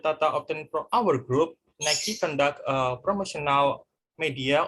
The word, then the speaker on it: Nike: mispronounced the name of nike it is correctly pronounced by nike and the name come from the greek darkness